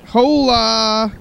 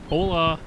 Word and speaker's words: Hola: The H is silent, Carl. Come on. Hola. Hola. Hola.